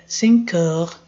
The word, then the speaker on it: heures: Então, esse aqui, horas, você não lê horas, lê heure. Heure. E o S não pronuncia.